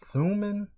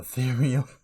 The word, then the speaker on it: Thumin: Anyway, in my last video, I was pronouncing her name wrong. I believe how she pronounced her name is Thuman, and I was calling her Therium.